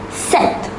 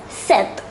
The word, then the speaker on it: sept: 7 is sept. Here we need to note that the letter P is silent. So number 7 is pronounced as sept.